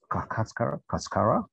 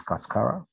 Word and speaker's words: cascara: make completely new products called carcass just to pronounce it right it's cascara this is a unique